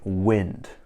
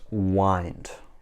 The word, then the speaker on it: wind: to be really careful this verb is not pronounced like wind which is blowing in the air it's pronounced wind and the past simple